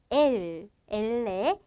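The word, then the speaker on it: ele: 자, 엘레 같은 경우에는 발음이 어떻게 될까요? 네, 리을 발음 가져갈 거고요.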